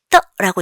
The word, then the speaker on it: 得: 자, 네 번째는 이제 떠라고 읽습니다. 경성이에요. 떠는요.